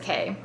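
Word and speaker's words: Caye: I know there's always a little discrepancy on how everyone pronounces that. C A Y E. Um, but I think it's Harvest K.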